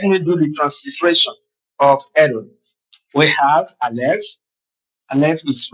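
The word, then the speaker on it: אֱדוֹם: And in pronunciation, now it will be pronounced Edom. Edom. Very brief.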